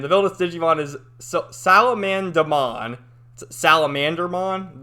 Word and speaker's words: Salamandamon: Salamandermon, but they call it like Salamandamon. It's weird how you pronounce it, but whatever.